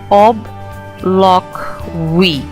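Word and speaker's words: obloquy: however uh quite a powerful one when you pronounce it it is OB loock we okay o b l o q u y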